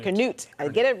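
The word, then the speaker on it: Curnutte: Is it Cornett? I'm saying it right. Canute.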